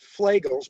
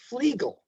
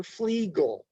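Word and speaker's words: Flegel: Now this is one of the this is a mispronounced uh disease. Everybody calls it flaggels, but it's actually his name is pronounced flegal.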